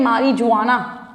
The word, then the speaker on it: marijuana: ये स्पेलिंग है मारिजुआना, right, but जे is silent over here, so इट इज मारिजुआना.